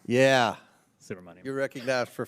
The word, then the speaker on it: Subramanyam: I will hopefully be able to correctly pronounce this by the end of the 119th Congress. But Mr. Subramanyam. Yeah, Subramanyam.